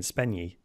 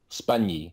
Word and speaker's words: Spagni: Spagni. Spagni. So Spagni, right. the GN is kind of like the GN in lasagna.